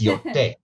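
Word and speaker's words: Yōtei: It's Yotei.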